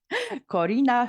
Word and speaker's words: Corina: you so much uh relau is good pronounced my name is not good Corina from Romania thank you so much